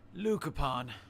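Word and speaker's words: luchorpán: to me nowadays i i imagine a leprechaun mytho lukapan excuse me i prefer to use the original pronunciation from old irish i see um sorry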